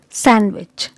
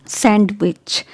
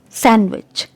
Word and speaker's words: sandwich: letter is silent here letter d is silent so it's sandwich okay it's not sandwich it's sandwich sandwich it's handsome so